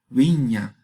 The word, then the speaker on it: viña: da en castellano medieval, se escribe así con una V de vaca, pero se pronuncia con los dos labios como fricativo. El sonido es wa, como viña, viña, viña.